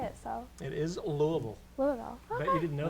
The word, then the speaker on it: Louisville: pretty young I'm from originally from Louisville Kentucky pronounced Louisville not Louisville just for all you know anyone who doesn't